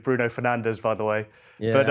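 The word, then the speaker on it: Bruno Fernandes: Yeah, absolutely nice Portuguese pronunciation of Bruno Fernandez, by the way.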